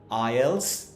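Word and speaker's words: IELTS: যদিও এটা আইইএলটিএস, এই জিনিসটাকে আমরা উচ্চারণ করি আইএলস হিসেবে। কিসে বলেন তো?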